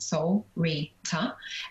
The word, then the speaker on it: Solreta: for example so um soul reader is like a a syllable named soul rita and what each of